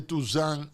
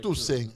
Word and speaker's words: Toussaint Louverture: Entonces, hicieron una fortaleza cerca, muy cerca, del aeropuerto capitalino de Toussaint Louverture. No es Toussaint, es Toussaint. Toussaint. Significa todos los santos. Toussaint Louverture.